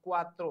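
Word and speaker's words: cuatro: ओ चता इट ओ चता E four जज क्वात्रो सी यू ए टी आर ओ सी यू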